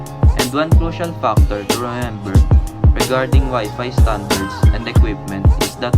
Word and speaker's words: Wi-Fi: Wi-Fi is a meaningless word in fact. The Alliance chose the word because it rhymes with hi-fi.